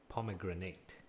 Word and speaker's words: pomegranate: is of course pomegranate pomegranate P pomegranate yes it rhymes with grenade pomegranate yes okay any questions